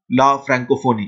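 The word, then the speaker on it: la Francophonie: Then international organisation of ला फ्रैंकोफोनी, international organisation ला फ्रैंकोफोनी। तो इस तरीके से आप जो है फ्रेंच टर्म्स को प्रोनाउंस करते हैं, international organisation of ला फ्रैंकोफोनी।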